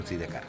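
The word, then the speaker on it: Sidecars: Sí, aunque aquí no se dice side car, sino de car.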